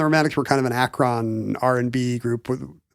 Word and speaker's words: Akron: It's like a doo-wop kind of the Ruby and the Romantics were kind of an Akron R&B group with... Did I just say Akron? Like you did. To rhyme with Dacron?